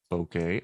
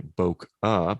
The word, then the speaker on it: bokeh: I used to say Bokeh because that was the reason, that was the way someone taught me how to say it. But they weren't Japanese, and it's a Japanese word.